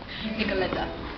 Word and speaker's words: Nicoleta: Nicoleta. Nicolleta. That's how Nicole is pronounced in Italian.